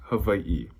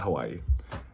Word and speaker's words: Hawaiʻi: Even the W in the Hawaiian alphabet, depending on the word, it's pronounced like a V. So that's why it's Hawaii, not Hawaii.